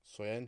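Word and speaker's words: Söyüncü: How do you pronounce his name? Soyuncu.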